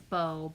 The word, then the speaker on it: Beau: His name is Beau. B-E-A-U is Beau, is handsome in French for masculine. That's his name. But I spell it B-O-W.